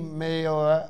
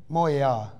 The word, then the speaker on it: Montréal: Merci meilleur. I don't know how to say that word. Merci. Montréal. Montréal.